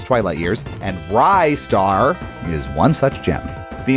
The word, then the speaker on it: Ristar: We've seen Ryar, Rristar, Restar. It's a conundrum for sure to the point where even Sega themselves as developer and publisher never settled on a pronunciation. I'm going with Ryar.